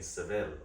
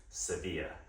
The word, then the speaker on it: Sevilla: Hey, welcome to the Abba Hotel in Seville, or as the locals say, Sevilla.